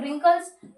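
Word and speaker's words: wrinkles: गोल को राउंड है तो राउंड का आर लिख दो, झुर्रीदार रिंकल्स, ये लिखते हैं रिंकल्स की स्पेलिंग, तो जिसमें आर क्या है, डब्ल्यू इसमें साइलेंट है तो बचा स्मॉल आर, तो क्या हो गया, स्मॉल आर, ये हो गया, ठीक है।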